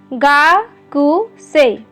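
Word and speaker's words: gakusei: छात्र, गा-कु-से- ई. की वर्तनी इसे देखो। यह गा में लिखा है- एक बुरे व्यक्ति के रूप में, लेकिन उच्चारण किया जाता है 'गाकुसी'. 'कु'- उस 'u' के साथ आवाज तो है ही, यह उच्चारण में उपयोग नहीं किया, तो ऐसा ही हुआ।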